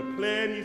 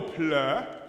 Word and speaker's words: pleni: Yeah, I wouldn't go ple. That falls back in the throat. I would say ple. Yeah, almost like P-L-I, especially basses.